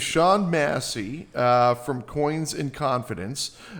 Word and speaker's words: Tashaun Massey: Now, today uh we've got uh Tan Massie. Did I pronounce that right? Yes. Tawn Massie uh from Coins and Confidence.